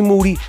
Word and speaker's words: Moody: The live tour, me, Moody, last name rhymes with duty.